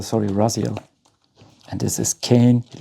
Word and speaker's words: Raziel: And this is a Ara Raziel. Sorry, Raziel.